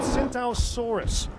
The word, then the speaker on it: Spinosaurus: It's called a Spinosaurus. The T is silent, like the P in swimming. Yeah, and it has a mohawk.